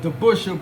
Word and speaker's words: DeBusschere: Although its Dutch pronunciation would have been closer to DeBusschere, Dave DeBusschere used an Anglified pronunciation of DeBusschere, by which he was also known.